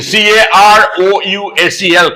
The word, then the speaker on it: carousel: collect their luggage from there that is called Carousel write down c a r o u s e l Carousel the word is Carousel see the spelling c a r o u s e l Carousel the pronunciation is Carousel not Carousel Carousel is a